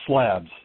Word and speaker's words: Schlabs: slobs I think this is how you say your name is that how you say your name it it's pronounced slabs Wow sure that I